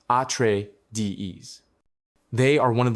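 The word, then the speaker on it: Atreides: Into this complex game of power, we now introduce House at Trades, pronounced atree dees.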